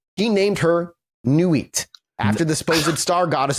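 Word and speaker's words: Nuit: And now the document we're working from says he named her Newit after the supposed star goddess in the book he just disowned. Nit like n ui t like knight in French.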